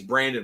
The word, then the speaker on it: Brandian: We call him, his name's Brandon Ross, but it's spelled Brandian, Brandian.